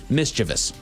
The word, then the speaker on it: mischievous: However, if you think of the word this come from mischief, makes sense it's actually pronounced mischievous.